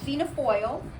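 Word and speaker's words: Fianna Fáil: how to pronounce it so it's PHA foil and that's galic for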